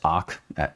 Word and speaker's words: ARK: So the ship, now named the ARK, pronounced ARC, ARK, was finally complete, and the search for crew, personnel, and fertility candidates had begun.